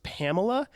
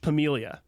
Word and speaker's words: Pamela: And people are going, I think it's Pamela. It is spelled Pamela. It is pronounced Pamelia.